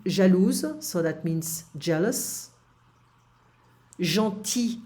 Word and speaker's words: gentil: Gentil, I don't pronounce the L here in the masculine form.